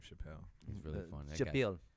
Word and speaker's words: Chappelle: really funny though Chapman yeah we print it's pronounced Dave Chappelle there should be like a documentary like the